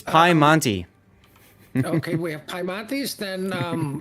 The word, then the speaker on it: Piemonte: For Team Bravo, we have Gdansk, a Petro, a Italian super ship, because they can't pronounce that thing. It's Piemonte.